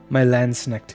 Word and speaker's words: Landsknecht: But let's just head to one of them and give things a try with my Landsnecht here.